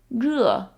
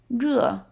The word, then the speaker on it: 热: 热 is a little hard to say, so try it with me. 热. 热.